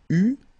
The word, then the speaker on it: eus: Tu eus, final S not pronounced.